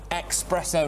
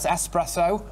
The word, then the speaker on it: espresso: like it when people say expresso not espresso that's good i've got to